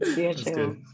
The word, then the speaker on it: Chia Chou: I hope I pronounced that right. Chou. That's great, actually. Chia Chou.